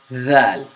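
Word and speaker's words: ذال: That's why I have you not stick your tongue back in. I need your tongue sticking out when you pronounce that Z. So, th, th, th, th, dhal, dhal.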